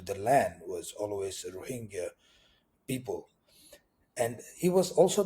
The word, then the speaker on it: Rohingya: influence so I say a lot of people in the english- speaking World say rohinga um you seem to be saying it rohinga as like a soften sound is that the correct